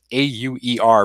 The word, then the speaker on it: Auer: That's spelled A-U-E-R, but pronounced Auer deference, and it's a rule of administrative law.